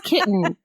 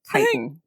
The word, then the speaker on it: kitan: like nope nope nope that's kitten that's a that's a small young cat there's no way that that's how to pronounce it so it's it is indeed kitan kitan anyway uh this [